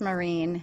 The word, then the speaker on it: Myrin: enjoy today's epic episode my weird last name is pronounced marine yes like i actually you have done the most podcasts i've ever seen i wrote down maureen i don't know if